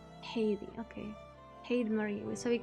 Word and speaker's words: Heide: How do you even freaking pronounce it? The first part, Heidi.